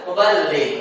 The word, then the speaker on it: muballigh: Maka gak perlu ada yang namanya mubal muballigh. Ini namanya muballigh. Muballigh. Iya. Muballigh. Ya. Mubaligh. Kau mubalig. Ketika ditanya, "Bu mau ke mana?" Iya, saya mubaligh nih. Itu beda lagi. Ini bertasydid dalamnya.